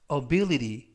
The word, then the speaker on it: ability: 맨 끝에 있는 t는 연음에 의해서 트가 아니라 드라고 발음하시면 되겠고요. 강세는 I, 가운데 부분에 있는 알파벳 I에 강세가 있습니다. 이번 단어에서 알파벳 I가 두 개가 나오는데요. 첫 번째 있는 알파벳 I에 강세가 있어서 ability라고 발음하시면 좋겠습니다.